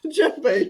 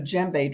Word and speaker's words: djembe: Right, because the djembe drum, that's spelled Djembe. There, you don't pronounce the D.